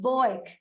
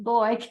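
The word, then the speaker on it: Bueck: they were always pronounced Boyk. Yeah, it was always pronounced Boyk.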